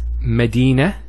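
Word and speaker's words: مدينة: a hat medina khadija now if i stop on a camera water it's actually pronounced as a hat in both cases so here medina means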